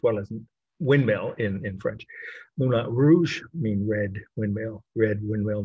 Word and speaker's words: Moulin Rouge: would be Moulin Rouge, or if you're from Indiana, Moulin Rougey, as my aunt from Kokomo used to call him. She knew all about the artist. She just couldn't pronounce foreign people's names.